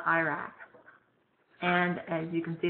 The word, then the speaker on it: IRAC: A very popular means is called IRAC. I know that's not the way we pronounce the country, Iraq, but for this you will call it IRAC.